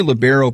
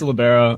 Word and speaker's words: libero: And I hear libero pronounced 2 different ways when I talk volleyball. How do you pronounce it, Rory? It's libero. Okay. In my eyes, some people say libero.